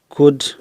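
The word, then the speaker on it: could: Second हम इसमें लेते हैं एल के बाद डी होने पर कुछ शब्दों में एल जो है वो साइलेंट रहता है। जैसे वुड, कुड, शुड।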